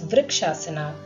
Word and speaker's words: Vrikshasana: This balancing posture is pronounced as Vrikshasana as it replicates the graceful, steady stance of a tree and improves stability in the legs.